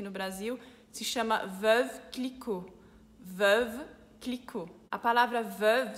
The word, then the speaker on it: Clicquot: companhia, então ficou Veuve Clicquot. Aqui, Clicquot tem um T mudo no final do sobrenome.